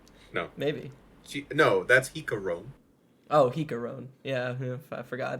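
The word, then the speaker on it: Jicarón: Chicharron? No. Maybe. No, that's Jicarone.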